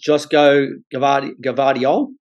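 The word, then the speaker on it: Joško Gvardiol: Excuse the pronunciation. Croatia's Josko Gvardiol, is that correct?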